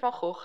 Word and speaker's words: Van Gogh: 19th february 1888 vincent van gaal falch sorry i'll pronounce it in dutch vincent vargo left paris by train